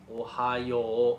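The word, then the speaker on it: おはよう: Don't say it like the US state Ohio. Ohio is 3 syllables and with the emphasis on hi. You don't want to say it that way. You want to say Ohio. It's actually 4 syllables. Ohio. Ohio. Ohio. Yo and the u together. Ohio. Yo. So you basically prolong the end a little bit instead of Ohio.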